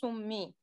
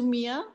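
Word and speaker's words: سُمِّيَ: But we are going to pronounce summi. Summi. No, don't say sumiya.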